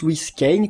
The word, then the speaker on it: Louis Kane: et oui, parce que ça se prononce Louis Kane, comme Citizen Kane.